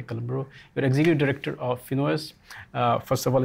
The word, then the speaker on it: FINOS: I, with my outrageous Italian accent, pronounce it FINOS. Maybe an American native will probably pronounce it FINOS, but that's it. It's not FINOS, it's not FINOS.